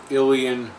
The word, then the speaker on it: Ilion: to ilion New York in my video i mispronounced that word um I really didn't know how to pronounce it at the time when I made the video i called it I lion because that's the way it's written it's written I l io n it looks like I lie